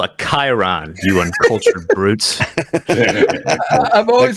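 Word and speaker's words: chyron: Like, what the hell's a Cryon? Yeah, I know. My kids use crayons to color. I say it wrong. Jack will come in here. Yeah. It's called a Chiron, you uncultured brutes.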